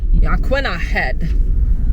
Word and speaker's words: Yaquina: We just got corrected that the proper way to pronounce it is Yaquinah Aquina.